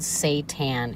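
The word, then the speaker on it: seitan: So, if you're looking for a high protein, very cheap option, you're going to want to look up something called Satan. It's spelled s e i t a n.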